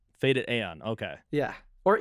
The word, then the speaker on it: FADEDAEON: So, how do you pronounce your stage name? Is it Faded Ion? It's Faded Aeon. Faded Aeon. Okay. Yeah. Or Eon, I guess.